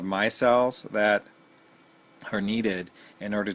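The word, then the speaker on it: MyCell: viz pure technology this my cell and it's m CES but you say it like my cell m y c e l l the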